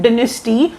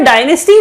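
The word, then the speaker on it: dynasty: System of a home डिनेस्टी of Assam. डिनेस्टी और डायनेस्टी दोनों pronunciation ठीक है, आप जैसे मर्जी प्रोनाउंस करिए। आप मुझे पता है इसे डायनेस्टी बोलते हैं, कोई प्रॉब्लम नहीं है।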